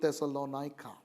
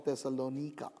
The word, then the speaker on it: Thessalonica: epistles and that's to thessalonica or thessalonika depending on how you would want to pronounce it european city but